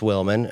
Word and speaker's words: Willman: Cuz I was I knew people mispronounced Wilman cuz I got called Justin Williams every day of my life, right? People just see W I L and then they stop reading.